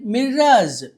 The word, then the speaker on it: mirror: According to release from the Parvathipuram collector's office under ముస్తాబూస్ programme all school premises are given మిర్రాజ్.